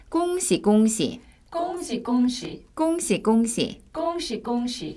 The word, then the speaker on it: 恭喜: 꽁시, 꽁시.